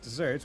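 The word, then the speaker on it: deserts: deserved reward or punishment, which is spelled like the arid land, but pronounced like the sweet tree.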